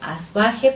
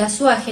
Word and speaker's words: Azuaje: Algunos lo pronuncian el apellido como Asbaje, pero según la propuesta del investigador Guillermo Schmidt-Huber, la pronunciación del apellido es más cercana si se pronuncia como Azuaje. Juana Inés Ramírez de Azuaje nace el 12 de